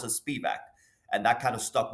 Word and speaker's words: Spivak: Some people pronounce it Spivak, and that kind of stuck with me sometimes.